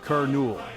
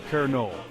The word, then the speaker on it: colonel: say it with me kerol see it's not as intimidating as it looks on paper the key is to remember that the stress falls on the first syllable now imagine you're reading